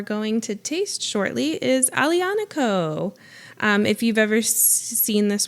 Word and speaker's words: Aglianico: So what we are going to taste shortly is Aglianico. If you've ever seen this word spelled out, it looks like Aglianico, but they pronounce it Aglianico.